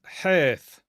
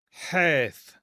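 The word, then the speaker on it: ܚ: This is that rough H. Okay. And sometimes this will be pronounced with the ch sound as well. Usually that symbol is going to indicate the okay, like the Darth Vader H.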